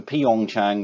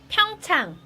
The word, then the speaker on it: 평창: Yeah, I was originally going for Pyeongchang, but that's wrong. Google pronounces it like this, 평창, so very helpful to 평창, Right. Google. 평창, There we go. So that's the correct term 평창, and way of saying it.